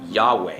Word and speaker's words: Yahweh: Now, early Christian transliterators, they pronounced this name Jehovah from the 17th century and beyond, and by the time we got to the 19th century, the word was retransliterated into the word Yahweh.